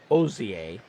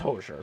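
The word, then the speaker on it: Hozier: I believe I believe my brother-in-law once uh sent us a recording of him playing Cherry Wine by, as he pronounced it, Ozier. It's Hoser.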